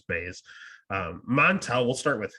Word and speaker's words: Buys: um this is another late replacement jp is jumping in or bays i'm sorry it's it's not pronounced pies it's base um montel we'll start